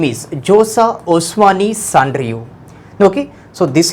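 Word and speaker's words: Vjosa: Her name is here Josa, V is silent here, Josa Osmani Sandriu.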